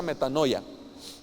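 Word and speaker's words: μετάνοια: especial en el griego la palabra arrepentimiento es metano ya metano ya que es m a n metano o algo así pero se pronuncia metano ya me dijeron entonces que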